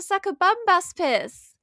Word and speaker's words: Sakabambaspis: It's actually called the Sakabambaspis.